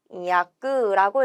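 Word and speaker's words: 翻訳: 번역이 되고 혼이야끄라고 읽어요.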